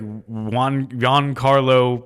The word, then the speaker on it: Giancarlo: One word, but it sounds like two. It's like Giancarlo because it's Gian.